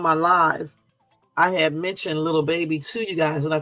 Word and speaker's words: Lil Baby: Okay, I just said little because I just used the whole thing. I know it's Lil Baby, okay? Let me say it right.